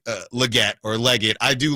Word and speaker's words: Legette: Xavier Leget or Legette. I've heard it pronounced both ways.